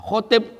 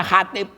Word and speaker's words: khatib: Nah, khotib bacanya khatib. Ngomongin di masjid. Khatib kita hari ini.